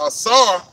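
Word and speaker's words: עָשָׂה: The Strong's 86213 is pronounced asar, and it says to do, fashion, accomplish, make.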